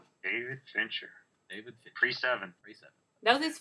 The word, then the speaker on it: Fincher: pick is alien three alien three by David finter orever you pronounce his name David Fincher David 37 that was his first movie wasn't